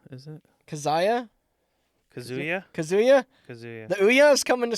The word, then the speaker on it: Kazuya: How do I pronounce this? Kazuma, is it? Kazuya? Kazuya? Kazuya? Kazuya.